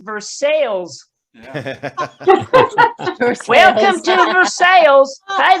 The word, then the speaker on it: Versailles: We have a city in Kentucky that's pronounced Versailles.